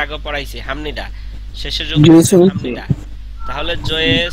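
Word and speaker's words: 죄송합니다: আর এখানে হচ্ছে হামনিদা, এটা আপনারা জানেন, এটা এর আগে পড়াইছি হামনিদা, শেষের যোগ জয়ে সং। হামনিদা। তাহলে জয়ে সং বাক হামনিদা, এখানে উচ্চারণ হচ্ছে জয়ে।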